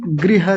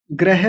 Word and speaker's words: गृह: निद्रा के बाद है तथैव च, और फिर है अल्पाहारी गृह त्यागी। ग्रह नहीं होता, ग्रह त्यागी जैसा कई बार बोल देते हैं। गृह, गृह त्यागी विद्यार्थी।